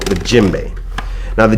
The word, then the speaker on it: djembe: to you a lot about is called the djembe now the djembe is spelled d je e em b e this